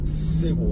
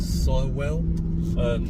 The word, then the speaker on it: Sywell: Went to, I thought it was Sewell, but they all pronounce it as Sywell Aerodrome, which is like the car experience.